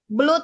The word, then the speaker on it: blood: Memang O-nya 2. Ya. Biasanya kalau O-nya 2 di Inggris kan bacanya U ya, like book. Tapi untuk this one itu pronounces blood. Sama dengan banjir. Itu kan fluid. Tulisannya but it's blood. Ya, not fluid. Okay.